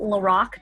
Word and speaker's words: LaRock: my website it's Laura calm my last name is spelled like it sounds la are Ock like the rock you can go there